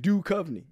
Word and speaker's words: Duchovny: It's David Duchovny.